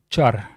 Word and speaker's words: char: Pointer to a car or car pointer. Most people pronounce this as car, but minority just says car.